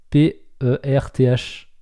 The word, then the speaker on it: Perth: La ville de Perth, ça s'écrit pas pareil, c'est P-E-R-T-H. Il faudrait dire Perth.